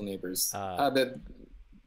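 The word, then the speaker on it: Nabors: Sarah Drasner's there, as well as Rachel Neighbors. Is that how you pronounce her last name? Yeah, Rachel Neighbors.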